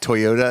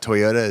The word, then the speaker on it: Toyota: it, and I found this Japanese girl doing pronunciations that Americans and most people actually mostly miscom. Like Toyota is not Toyota, it's Toyota.